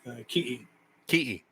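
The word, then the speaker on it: kiʻi: sorry um you know the word tikki is actually uh the tahitian word so in hawaiian it's pronounced ki yeah i see and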